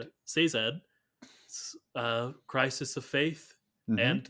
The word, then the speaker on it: Sazed: I always pronounce his name wrong because I Say just read Zed. it. Sazed, Crisis of Faith, Mm-hmm.